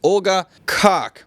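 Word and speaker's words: Olga Koch: And they have a big act coming in, and that is Olga Kok. Yeah, that's how it's pronounced, okay?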